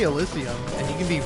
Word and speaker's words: Elysium: But, like, like, Elysium is one of those words where I'm like, it's Elysium. Like, you can say Elysium, and you can be wrong, that's fine, but you are wrong.